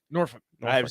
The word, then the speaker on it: Norfolk: It's pronounced Norfolk. Norfolk? Norfolk.